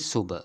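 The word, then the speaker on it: ශුභ: The pronunciation is Subha.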